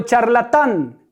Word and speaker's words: charlatán: Luego tengo charlatán. ¿Cuál es la sílaba tónica? La última.